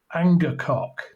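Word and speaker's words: angakkoq: like this the village would summon the shaman anger coock now it's that's his name and I will spell it for you just so you find your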